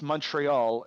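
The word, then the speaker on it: Montréal: Oregon way in uh in English it's Montreal in French it's moral either way you're not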